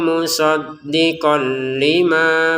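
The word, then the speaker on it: مُصَدِّقًا لِمَا: Musaddiqan tulisannya ada lam di depannya, masukin ya tanwinnya ke lam tanpa dengungan. Musaddiqan lima ma'ahum, seperti itu.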